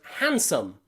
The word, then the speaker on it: handsome: Take a look at the word handsome. In the word handsome, you'll see that D is in between two consonants. Han, so the N, then the D, and then an S. Two consonants and the D in the middle. So the D is silent. Handsome. We don't say handsome. We just say handsome.